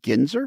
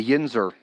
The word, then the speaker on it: yinzer: what do they call what is it ginzer a a yinzer yinzer yeah um can you spell